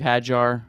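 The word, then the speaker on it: Hajjar: Steve Hajar.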